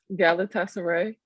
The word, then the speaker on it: Galatasaray: Hey, just how do you pronounce that Turkish team that you played with? Galatasaray.